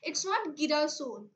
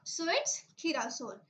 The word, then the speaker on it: girasol: It's not girasol. Why? Because the G letter comes before here, before I. So it is confirm in the rule, if the G letter comes before E and I, will pronounce it as K. Yeah, so it's girasol.